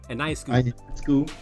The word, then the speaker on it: Ionescu: Ionescu.